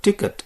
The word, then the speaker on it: ticket: Notice that even if the word ticket exists in French, it is pronounced Ticket.